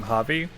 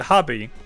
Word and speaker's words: Hobby: Well, normally I pronounce it hobby, but occasionally I've caught myself pronouncing it hobby with a V. V, not a B sound.